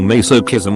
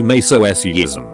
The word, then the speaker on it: masochism: Asians don't speak Asian how the CH and masochism is pronounced my friend caught me saying meso kism while he would say meso ism to be fair he grew up speaking French in which the CH and masochism is pronounced in his way but he insisted that I was the wrong one here and that shit's infuriating